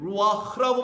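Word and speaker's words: רוּחַ: 이걸 동사로 읽어버리면 발음이 라바흐가 되는 거고 명사 영이라고 하는 명사로 읽게 되면은 루하흐라고 발음하는 것뿐이에요.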